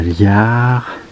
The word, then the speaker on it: Llar: Alors, nous sommes à Liard. Ça se prononce comme ça.